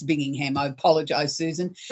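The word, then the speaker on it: Binghamton: I am I'm sorry I pronounced it what I call the Birmingham it's bingingham I apologize Susan how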